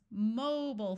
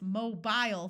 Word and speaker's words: mobile: For example, in the United States, we call cell phones mobile phones, where the first syllable is accented with a clear O sound. British English says mobile phones, where there is a long I sound in the second syllable. That long I sound schwas in American English and completely disappears.